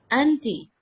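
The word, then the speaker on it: أنتِ: Anti. Anti. In, Okay, okay. yeah, in yani in style they say inti, like if you might feel some Arabs saying this, just style, but the proper pronunciation is anti.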